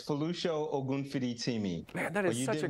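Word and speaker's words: Folusho Ogunfiditimi: chair of the American Academy of Physician Associates, Folosho Ogunfiditimi. Did I say that right, sir? I'd like you pronounce that for us, for all of us. That's very good. It's Folosho Ogunfiditimi.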